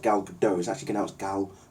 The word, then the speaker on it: Gal Gadot: I go any further her name is not pronounced gal gadot's at he can help gal gadot she's confirmed